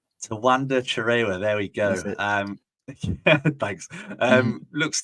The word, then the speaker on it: Tawanda Chirewa: Chirewa, Tawanda Chirewa. Tawanda Chirewa, there we go.